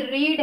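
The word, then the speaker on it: read: Form पहले से ही रीड है, लेकिन हम इसे लिखेंगे वही, स्पेलिंग हमारी वही रहेगी, लेकिन पढ़ा क्या जाएगा, प्रोनंसिएशन हमारा, उच्चारण क्या होगा, रेड होगा।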